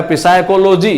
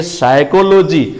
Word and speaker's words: psychology: दूसरा एग्जाम्पल में आते हैं PSYCHOLOGY, लोग नॉर्मली इसको पढ़ेगा पिसाइकोलॉजी, जिनको साइलेंट लेटर का ज्ञान नहीं है वो पढ़ेंगे इसको पिसाइकोलॉजी, लेकिन यहाँ ये पढ़े जाएंगे साइकोलॉजी। मेरा पी लेटर जो है वो साइलेंट लेटर है, और यहाँ एक बहुत